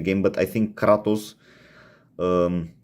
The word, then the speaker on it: Kratos: God of War so here's katos or katos Kratos is actually in the the name the pronunciation game but I think katos um sounds meaner he's made using the old